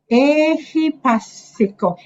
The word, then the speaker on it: ehipassiko: Sanditiko, akaliko, ehipassiko. A is long. Ehipassiko. The I is short, so don't say ehipassiko.